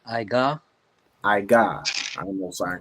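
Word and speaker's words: עוגה: Young man, if you could say how that word is pronounced in Hebrew. It's Iga.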